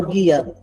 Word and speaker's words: GIA: trabalha com o sistema GIA, é isso? Me corrija se eu estiver errada essa pronúncia? É o guia.